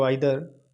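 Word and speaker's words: either: आइर भी पढ़ते हैं हम इसे प्रोनंसिएशन इदर को आदर और नीदर को नादर भी प्रोनाउंस करते हैं ईच इदर एंड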